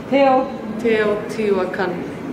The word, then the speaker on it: Teotihuacan: How do you pronounce the name of the place? Teotihuacan.